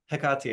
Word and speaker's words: Hecate: You wouldn't just say hecate I call you to this right or heati is closer to the actual Greek pronunciation. Hekati I call you to this right.